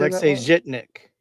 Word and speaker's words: Alexei Zhitnik: Alexei Zhitnik.